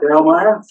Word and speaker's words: Grawemeyer: And the, never known how to pronounce that. Grawemeyer?